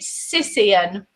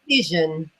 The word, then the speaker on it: Cision: Is it Sisian or Sizen? Cision.